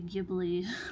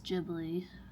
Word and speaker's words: Ghibli: That is actually how you pronounce Ghibli correctly. A lot of people say Ghibli or whatever. But the correct way is Ghibli.